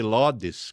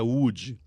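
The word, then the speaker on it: Łódź: a cidade de UD que o povo chama de lodes quando por causa da tradução em inglês então fala lodes mas a pronúncia é UD tradução da palavra para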